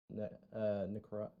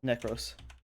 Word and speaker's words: Nekros: coming up with Necro. How do you say it again? Sorry, Nekros.